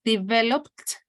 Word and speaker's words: developed: thank you so Andres developed in this case we don't pronounce the Ed okay and Anna Pirates